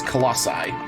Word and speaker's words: colossi: we're supposed to destroy oh yeah the plural pronunciation is colossi this is also considered the second